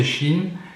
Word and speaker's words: Shein: Alors ça c'est intéressant parce que Shein s'écrit Shine qui en allemand veut dire apparence, mais ça se prononce Shein comme si cette entreprise chinoise prenait référence, c'était la référence de la Chine en quelque sorte.